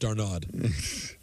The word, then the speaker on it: d'Arnaud: And I believe his name is pronounced Darnaud.